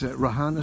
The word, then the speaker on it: Reihana: So the correct pronunciation is Reihana Street, Orake.